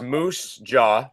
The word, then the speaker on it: Moose Jaw: you spell it uh so it's Moose Jaw just as it sounds and then SAS sketch